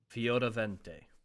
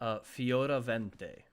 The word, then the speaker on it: Fioravente: Fioravente. So the R is almost like a D sound.